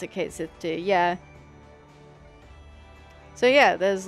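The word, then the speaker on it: Cait Sith: Oh, Kate Sith?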